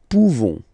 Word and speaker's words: pouvons: Pouvons, nous pouvons. Okay, you don't pronounce the final S. Nous pouvons.